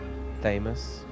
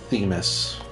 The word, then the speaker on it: Themis: get our nails dead how do you pronounce his name famous that's how i pronounce it i see people pronouncing it themis he's just the miz the mez wwe's own the miz